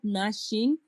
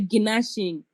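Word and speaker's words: gnashing: That we say stop nashing your teeth. We don't say ginashing. Ginashing is not true.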